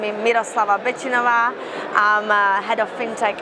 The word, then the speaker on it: Miroslava Betinova: so I'll just summarize again my name is mlava binova I'm a head of fintech at Griffin bank